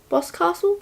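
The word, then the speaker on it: Boscastle: Museum of witchcraft and magic in boss castle boss castle that's how you say it and then there's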